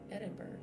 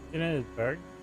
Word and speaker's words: Edinburgh: Edinburgh? There's kind of a weird way the GH at the end is pronounced weird.